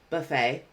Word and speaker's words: buffet: Buffet, buffet. So this word has different pronunciations based on the part of speech and completely different meanings as well.